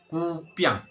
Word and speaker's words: kupiang: Nama lainnya kupiang. Oke? Kupiang. Jangan bacanya jangan piang, tapi bacanya piang. Lebih cepat ya teman-teman ya.